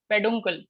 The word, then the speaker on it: peduncle: Sir, can you Apart- pronounce the other name for receptacle? Receptacle, peduncle, P-E-D-U-N, peduncle, Thank you, sir.